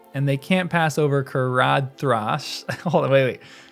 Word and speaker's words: Caradhras: And they can't pass over Caradhras. Hold on, wait. Caradhras. I've heard it pronounced with a TH rather than a D.